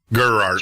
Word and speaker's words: Gerard: Gerard.